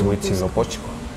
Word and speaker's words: Huitzilopochtli: Churubusco, pues fue por la mala pronunciación castellana, ¿no? Es Huitzilopochtli. ¿no?